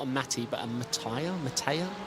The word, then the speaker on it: Mattia: a Matti, but a Mattia? How do you pronounce that? M-A-T-T-I-A. Mattia? Sorry. Mattia. Ubertale.